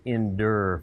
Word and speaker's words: indoor: recently I actually will I think that is pronounced down in Auburn it's pronounced endure facility what yeah after coach